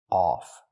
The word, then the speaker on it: off: The word is pronounced off. We use the sound like on, off, ball, call, audio. It's back here. Off. They cut off words. They cut off words. Not of, but off.